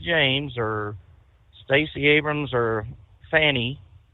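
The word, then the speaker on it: Fani: And if anyone else outside of the party like Leticia James or Stacy Abrams or Fanny, I don't want to call her Fawnie because it doesn't spell it that way.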